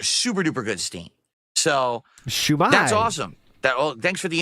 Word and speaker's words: shumai: Yes, and shumai. Shumai. He's emphasizing the second syllable weirdly.